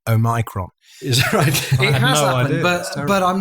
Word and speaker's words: Omicron: i think if you to use the correct pronunciation oh micron but but i'm not